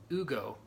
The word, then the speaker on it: Hugo: you can differentiate us pronouncing my name as Hugo. That's fair. Which is actually the right pronunciation in Spanish.